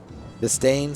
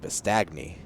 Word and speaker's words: Bistagne: Bistain, spelled Bistagne. So it looks like Bistagni, but that's not how it's pronounced.